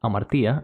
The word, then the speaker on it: hamartia: It's pronounced amartia in Greek, if you're wondering.